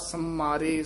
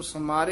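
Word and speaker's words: ਸਮਰੇ: सरे जो बारिक माता समरे समरे कस के उच्चारण करना है उते टिप्पी लगी हुई है इसन समार नहीं कहना समरे इस तर उचार जयो बारिक माता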